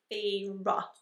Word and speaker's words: Feyre: Basically we are following Feyre, I believe is how you pronounce her name. It did say in the book that it's like Feyre. So we're gonna call her Feyre.